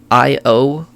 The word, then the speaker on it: Calliope: It is Calliope. Like the goddess.